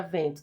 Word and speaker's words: vento: Na palavra vento temos cinco letras. E quantos fonemas aqui? As letras E n formam um único som. Trata-se de um dígrafo vocálico, tá?